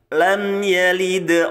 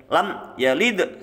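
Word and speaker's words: لم يلد: baik kemudian ayat ketiga lam yalid Nah kita baca santai ya minnya Itu bacaan izhar syafawi namanya Ya jelas di bibir jelas di bibir tapi tidak harus ditekan bacanya lam yalid salah Ya santai karena mim itu punya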